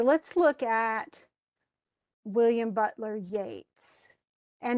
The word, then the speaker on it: Yeats: Okay, let's look at William Butler Yeats. And it's funny because his name is spelled like Keats, who we've already read a few poems by, but it's not Yeats. Don't call him, it's Yeats.